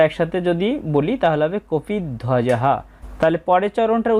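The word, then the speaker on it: কপিধ্বজঃ: কপিদ ওয়াজাহা এখানে আমরা একসাথে যদি বলি তাহলে হবে কপি ধ্বজাহা। তাহলে পরের চরণটার উচ্চারণ হবে ধার্তরাষ্ট্রান কপিধজাহা।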